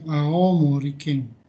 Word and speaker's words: 青森: Dibacanya Aoi Mori Ken, Aomori Ken.